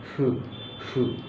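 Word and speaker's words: ふ: দুইটার মাঝে যেমন হু ও নয় ফুও নয় ফু ফু অর্থাৎ ফু দেওয়ার মত একটা উচ্চারণ ফু ফু যার কারণ এটা অনেকে হু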